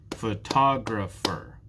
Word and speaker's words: photographer: out how many syllables photographer there are four syllables in the word photographer photographer which one is stressed photographer photographer it's the second syllable that is stressed photographer thank you for